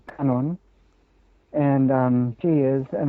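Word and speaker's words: Kannon: for avalokiteswara of course pronounced in the japanese syllables kanseon or kanon and um she is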